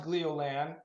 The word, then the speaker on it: Gleolan: I tend to call it Jello Land too every once in a while, but I think it's pronounced Gleolan, and that's actually the easy name for it.